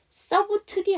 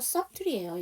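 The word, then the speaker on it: subtly: 서브트리 아니고요. 서트리예요. 여기서 서틀이에요. 그래서 빗사운드가 묵음이라니.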